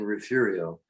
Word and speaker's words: Refugio: It was a refuge, and so refugio somehow became refugio. There's no R in it, and there's no H in it.